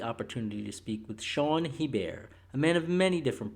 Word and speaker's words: Hebert: Hebert.